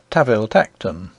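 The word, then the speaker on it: Tanville-Tankerton: We are told, in an authorial footnote, that the Duke's family name, spelt Tanville Tankerton, is to be pronounced Taville Tacton, and one may assume that the name of his country seat follows suit.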